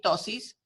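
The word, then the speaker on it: ptosis: Y la tosis, que se escribe así, tosis, P-T-O-S-I-S, es la caída de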